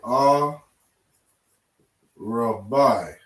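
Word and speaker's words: ארבע: And you're going to say a rabbi.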